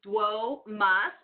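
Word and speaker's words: domus: if you want to you can break it down by syllable by saying whoa MA whoa mas this means house good job now this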